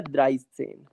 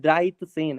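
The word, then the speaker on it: dreizehn: इसके बाद ये 13 जो है ये आ जाएगा द्राइस सेन।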